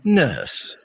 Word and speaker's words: nurse: Nurse. Nurse. Nurse. Y en el inglés norteamericano Nurse. la vocal se vibra.